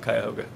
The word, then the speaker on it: Cuyahoga: The locals would call it the Cuyahoga River, but I'm saying it as it's spelled, Cuyahoga.